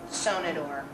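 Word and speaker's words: Sonnenuhr: The W is pronounced V. So it's Veltliner, not Wailener. Veltliner, Sonnenor.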